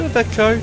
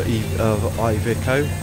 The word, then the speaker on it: Iveco: For an Iveco or Iveco, depends on again how you want to pronounce it.